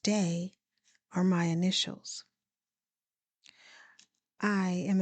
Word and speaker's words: DAA: DAA, pronounced Day, are my initials.